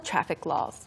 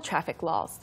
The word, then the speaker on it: traffic law: So remember, you have to pronounce the C. There has to be a strong K sound between the traffic and the law.